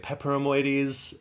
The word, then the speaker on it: peperomioides: Which I have been calling Pilea peperomioides, and then luckily Jane over at On the Ledge and her guest, Michael Perry, Mr. Plant Geek, helped me learn that I was leaving out a whole syllable.